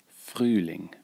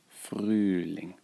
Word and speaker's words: Frühling: Make sure you get the pronunciation right. Frühling. Frühling.